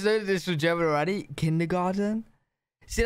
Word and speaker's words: Kindergarten: And that is kindergarten. In German, we pronounce it Kindergarten, and it literally means children's garden.